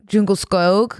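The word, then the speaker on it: Djungelskog: Swedish it's okay okay I learned how to pronounce yeah oh yeah it's yeah but the U is jungle snog it's Jung jungle jungle skog jungle skog jungle skog soft toy comma I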